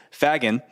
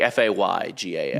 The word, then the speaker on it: Fagan: Like Faygan. Yeah, would be- Fagan. There is no Y.